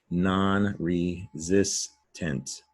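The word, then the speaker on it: nonresistant: Down below, non-resistant. Also, zis sounds like zis. It's an S.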